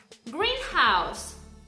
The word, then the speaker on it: greenhouse: Например, greenhouse – это у нас теплица, ударение мы ставим на первое слово из составного существительного, greenhouse – зеленый дом.